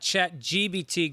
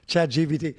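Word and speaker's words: ChatGPT: Then we got also Chat GPT is spelled with a P. It is not Chat GBT, Greg. Jesus. I think you do say Chat GPT, but I think it's a lazy P.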